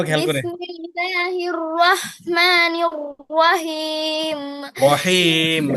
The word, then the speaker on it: رحيم: রহিম, হাড়ার উচ্চারণে খেয়াল করতে হবে। রহিম।